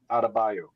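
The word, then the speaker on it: Adebayo: Adabayo.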